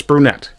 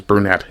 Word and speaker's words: Brunette: Uh, some people will spell it and pronounce it as brunette. It is not. It's brunette.